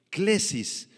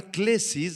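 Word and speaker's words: κλῆσις: la palabra vocación clesis del griego clesis con k y acento en la e clesis significa simplemente un llamado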